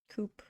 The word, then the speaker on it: co-op: Coop. Co-op. I don't. How do you guys say it? I say it like co-op. Or coop. Both, actually.